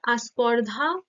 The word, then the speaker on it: স্পর্ধা: স্পর্ধাটাকে অনেক সময় আস্পর্ধা হিসাবে উচ্চারিত হয়।